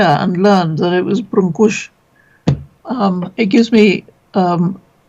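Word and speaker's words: brânză: all the English people I know including me pronounce it branzi because it looks Italian and when I came here and learned that it was brush um it gives me um pleasure to correct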